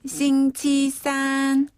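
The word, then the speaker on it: 星期三: 수요일은 싱치산. 싱치산. 한 번 더. 싱치산. 싱치산. 네. 산 발음도 역시 네. 음이 고르게 위로 쭉 뻗어가는 음입니다.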